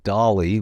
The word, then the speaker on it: DALL-E: And for those of you that aren't familiar, if everybody knows of ChatGPT, but you don't know of DALL-E, which is spelled like Wally with a D, it basically is an art generator.